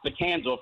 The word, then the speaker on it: BT and Sal: Yeah, or pronounced Betanzal for those that don't know the show.